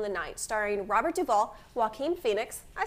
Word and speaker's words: Joaquin: The next one is just a couple days later at the opening of We Own the Night, starring Robert Duvall, Joaquin Phoenix, I said it right this time, and Mark Wahlberg.